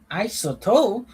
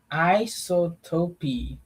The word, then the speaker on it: isotope: Isotope. It doesn't have isotopi. Oh, the E is silent.